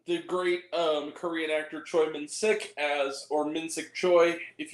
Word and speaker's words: Choi Min-sik: is Stars uh the great um Korean actor Troy Min sick as or minsic Choi if you will either or I've heard it pronounce it either way I'll say Troy him